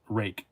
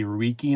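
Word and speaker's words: Ruike: Rake. R-U-I-K-E is, people say Reiki and stuff, but it's actually pronounced Rake.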